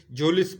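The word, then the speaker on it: Mjolis: गड्डी निकाली, and played मजोलिस यहाँ पे एम साइलेंट है, and played जोलिस with his guest, और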